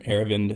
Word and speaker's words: Aravind: Well, you got the first name, Aravind.